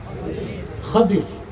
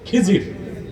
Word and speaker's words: খাদির: উচ্চারণটা কি? খাদির, বিফাতহিল খা ওয়া কাসরি দাদ, খাদির। আমাদের দেশের লোক বলে কি খিজির, এটা ভুল উচ্চারণ, শুদ্ধ উচ্চারণ কি খাদির।